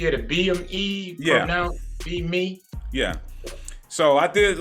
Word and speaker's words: BEme: see on the screen it's pronounced be me so it's a growing